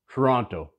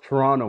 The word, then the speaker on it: Toronto: really from toronto because he repeatedly pronounces all the letters in the word toronto it's pronounced toronto brah any true toronto